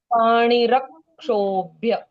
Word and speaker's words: पाणिरक्षोभ्य: क्ष में आधा क है पहले, तो उसका उच्चारण आना जरूरी है।